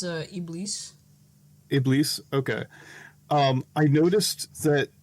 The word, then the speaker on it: Iblis: And so, I'm sorry, how did you pronounce it? It was better than mine, obviously. It's Iblis. Iblis?